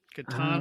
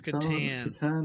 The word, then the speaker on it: Catan: Okay, well, I'm originally from the north of England, so we pronounce the slightly harder. So we would say Catan rather than Catan. My wife's from the south of England, so she might say Catan.